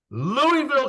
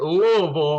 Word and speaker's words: Louisville: Stephanie you're out of Louisville Kentucky but if you say it like that people down there make fun of you so you have to say it Louisville I think I got